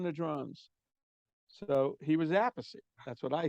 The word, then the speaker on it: Appice: the last name because he hears all different pronunciations. So Yeah. he asked Carmine, what do I pronounce? How do I pronounce it? What's the easiest way? And Carmine asked Rod, well, what do you hear it? He goes, a piece. So he changed it to a piece.